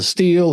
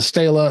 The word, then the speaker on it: stele: You'll hear scholars pronounce it as a stele, a stela, a stele. You'll hear it all the time. Everybody pronounces it a different way, but that's what it is.